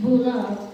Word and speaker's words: Bula: The letter B is pronounced with an M sound before the B sound, like in bamboo. Bula is not bula, but it is pronounced as bula.